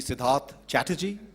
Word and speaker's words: Siddharth Chatterjee: good morning and alayum mine is a difficult name so everybody struggles with it it's actually sidhar chaty but Sid is easier to remember but normally when I